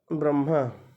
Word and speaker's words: ब्रह्मा: जब किसी व्यंजन के नीचे हलंत लग जाता है तो उस व्यंजन का उच्चारण आधा ही होता है, अधूरा होता है। ठीक है। क्योंकि बिना स्वर के सहयोग के किसी व्यंजन वर्ण का उच्चारण नहीं होता है, और होगा तो आधा हो, अधूरा होगा। से आगे है ब्रह्मा। तो ब्र ह के नीचे हलंत, म में आ की मात्रा ब्रह्मा।